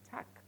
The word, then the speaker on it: Tag: guten tag guten tag take note of my pronunciation I am the pronouncing tag I am pronouncing tack guten tag so when